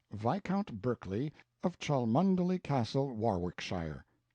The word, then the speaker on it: Warwickshire: Berkeley of chundy Castle Warwickshire pronounced cbri Slover Marshbank sellers vicount Barkley of Chumley Castle warshire he is standing by